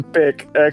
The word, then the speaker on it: Bic: Is B-I-K, like the words tick, tick, or quick. Thank you! Yes! I'm wrong. Yes! Thank you, Grok. Thank you. It's a single syllable with emphasis on Bic. No syllables like the SH on the end.